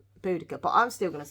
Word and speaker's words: Boudica: I've always pronounced this name of this lady, Boadicea. I've always said Boadicea, but apparently it's not. It's Boudica.